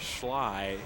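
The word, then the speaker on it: Schleich: the junior wide receiver Jaden sly it's pronounced but it's spelled SCH le i CH it is a tough pronunciation 45 seconds and kicking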